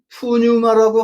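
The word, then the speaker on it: πνεῦμα: 르 루아흐가 신약 성경에 오게 되면 에라스무식 발음으로는 푸뉴마라고 합니다. 근데 그리스 현재 현지 발음은 푸네 부마예요. 푸의 부마.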